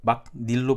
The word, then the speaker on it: 막일: 실제 발음도 막닐로 발음이 됩니다. 여기 있는 니은이 첨가돼서 발음이 되죠.